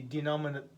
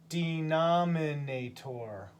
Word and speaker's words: denominator: And then on the bottom, the denominator, or المقام, denominator. How many syllables? 5 syllables. Denominator.